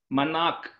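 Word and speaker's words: मनाक्: How do you pronounce the second word? Puramana? Manak. Manak. Not ka. It is a ka with a line underneath it.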